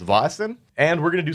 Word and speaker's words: Vaesen: of rather wrong ways ultimately learning a little bit of swedish i determined that it is pronounced vosin and we're going to